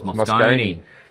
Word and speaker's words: Moscone: I thought it was Moscone. Apparently it is Moscone. Quite an American pronunciation there.